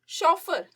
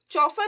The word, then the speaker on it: chauffeur: Next is शॉफर, चौफर नहीं बोलते हैं हमें, शॉफर हम उसको प्रोनाउंस करते हैं।